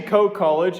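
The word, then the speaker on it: Coe College: freaking day is co e college it's actually co college and this is also a midwest uh slash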